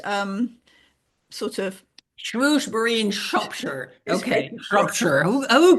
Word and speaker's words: Shrewsbury: difficult to pronounce because I was brought up to pronounce it shury which I think is not how it's I think that's kind of rather Posh Shrewsberry anyway um it's in